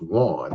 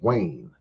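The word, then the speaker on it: Wain: Nobody's going to see W a I N and think that that's pronounced Juan. They gonna say, "What did that spell?" That says Wayne.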